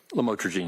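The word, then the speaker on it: lamotrigine: about the u the lamel otherwise known as lamatroine. Did I pronounce that right? Lamotrograene.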